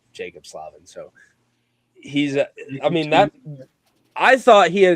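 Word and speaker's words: Jaccob Slavin: Some would even call him Jakob Slavin. That's how it's spelled. Yeah, but I've learned that he's American and it's Jacob Slavin.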